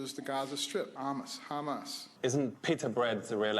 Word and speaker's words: Hamas: at that Coalition was how he pronounced Hamas which sounded a lot more like humus to most of the crowd here's my favorite vine